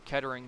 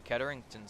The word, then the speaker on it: Kettering: However, IC was able to get it over to Ketarington's side. I I apologize, Ketering. I said your name wrong.